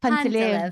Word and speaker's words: Panteleev: And if I spoil the pronunciation, then please correct me. It's all good. Panteleev, but everyone, Panteleev. Panteleev, yeah. Yeah.